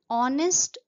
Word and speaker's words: honest: For example, an honest man, an hour, an honor. Here H is silent and we pronounce it as honest.